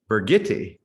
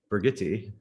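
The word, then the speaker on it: Birgitte: know that now now burgetti brigitte the german pronunciation of bridget that is exactly who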